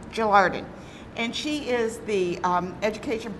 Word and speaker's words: Gelarden: Is that how you pronounce it? Gelarden. Gelarden.